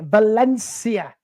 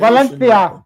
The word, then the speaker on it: Valencia: would just like to correct you on your pronunciation Valencia Valencia Valencia Valencia Valencia yeah but